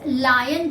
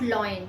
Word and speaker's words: lion: not gone over here it is lion Shirin ok lion not loyal its lion so please pronounce it correctly so the whole the